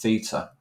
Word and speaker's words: Theta: with this weird um symbol here which is pronounced Theta um now we have the three sides before